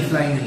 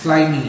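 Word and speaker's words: Flyme: mx4 but the flye How do you pronounce it Fly Me Fly me so it's official It's Fly Me It's Fly Me That's How I'm going to pronounce it from h fly ymi something like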